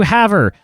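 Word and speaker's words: Havre: how I say however I called it have Ray have rare or whatever you call it Haver is apparently how you say it now again correct me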